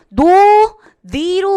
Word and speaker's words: 논의: 자, 그 다음에 여러분 요거 논의 자, 의 발음도 굉장히 중요한데요. 여러분 여기 둘째 음절부터는 의가 이로도 발음이 되고 뭐로도 발음이 된다? 이로도 발음이 된다. 자, 그럼 어떻게 되죠? 노, 니로 발음하는 것이 원칙이지만, 그쵸? 노, 니로 발음하는 것도 허용을 합니다.